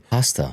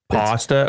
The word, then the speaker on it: pasta: told me P A W S T A pasta or P A S S T A, right? Pasta or pasta?